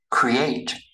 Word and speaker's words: create: Create. Create, các bạn không đọc là ray ha. Create, ở đây mình có hai vần, vậy thì dấu nhấn nó sẽ rơi vào vần số 2, cho nên hai cái